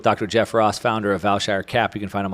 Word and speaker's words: Vailshire: jeff ross founder of valshar cap you can find him on twitter at valshar cap that's pronounced like vail and shire cap and you can